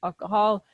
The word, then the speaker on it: alcohol: Y ambos de los O's aquí son el sonido corto porque no es O, es como A.